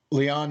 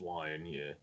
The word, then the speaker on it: Lyon: What they pronounce Lion, Yeah, however you want to call it.